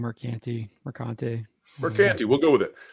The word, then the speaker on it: Mercante: How do we pronounce this one? John, is this Mercante or Mercant? I've been saying Mercante.